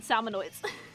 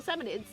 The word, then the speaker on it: salmonids: I just pronounced it salmonoids. More. Yeah, salmonids. I thought it was salmonoids. I added an O. Salmonirnids. So, salmonids.